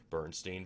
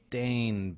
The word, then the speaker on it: Berenstain: And he said, just like you did, Bernstein Bears. Go ahead, pull that up. So here are several images of actual book covers Yeah, how of the would you pronounce that? Berenstain Bears.